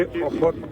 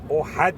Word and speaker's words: احد: میں ہم چلے قبا سے پہنچے احد تک. احد، احد نہیں، احد. ہمارا تلفظ ذرا سا مختلف ہے.